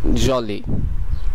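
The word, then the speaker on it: joli: এরপরটি হলো জলি, জলি এটি প্রায় ইংলিশের মতনই, এর অর্থ হলো খুশি, যার বাংলা কাছাকাছি উচ্চারণ জলি। এরপরের শব্দটি হলো কিডন্যাপর, কিডন্যাপর, কিডন্যাপর যার অর্থ অপহরণকারী।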